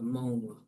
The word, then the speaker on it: Mong: So, number one is in the Mong green dialect, the word mong is pronounced mo.